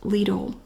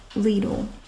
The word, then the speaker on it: Lidl: good canned vegetables and yes it's pronounced Lidl in the USA I confirmed that with the company it's pronounced Lidl isn't it she's back